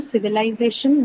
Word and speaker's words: civilization: Civilization then has a shan suffix. Z. Z. Yeah, on Z. Penultimate syllable Z.